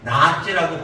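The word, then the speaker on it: נאץ: 이 멸시하다가 히브리 단어로요, 나아째라고 발음하는데 이 뜻은요, 경멸하고 얕잡아보다라는 뜻이 있어요.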